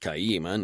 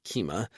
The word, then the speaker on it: Kaima: Firstly, it's pronounced Kaima, not Kima, and secondly, my daughter has no thoughts I haven't given her.